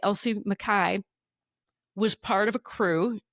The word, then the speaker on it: Mackay: Then a woman named Elsie Mackay, sorry, it's pronounced Mackay, who learned to fly in 1923.